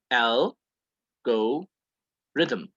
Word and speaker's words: algorithm: now is the word algorithm and it's pronounced like so l go rhythm and an algorithm is